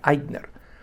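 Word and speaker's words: Ikner: Y el apellido es con I k N E R, ¿no? Y se pronuncia Eidner.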